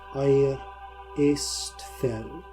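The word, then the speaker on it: Aistfell: Eastfell. What? Eastfell. Istfell.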